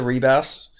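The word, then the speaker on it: Ribas: Sorry, not Ribbus. I always say it like she's a frog. Ribbus. Rubbert Rubbert. But yeah, she lost to Amanda Reebas.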